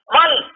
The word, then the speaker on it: वं: है, बोल बम बोल बम बोल बम। वो पानी का बीज मंत्र है, वंग बोल वंग, वह पर अनुस्वार दीजिएगा तो उसका उच्चारण दोनों होता है, वंग भी होता है, बम भी होता है।